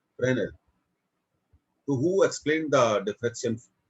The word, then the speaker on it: Fresnel: Don't pronounce it as Fresnel. S is silent here. Fresnel.